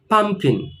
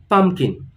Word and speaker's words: pumpkin: english we call it pumpkin so again the stress is on the first part of the word pumpkin so repeat once more